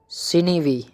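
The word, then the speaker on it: sinewy: Next word है सिनीवी। सिनीवी, साइन भी मत पढ़ देना, ये बिल्कुल ही गलत है, इसकी जो राइट प्रोनाउंसिएशन है वो सिनीवी है।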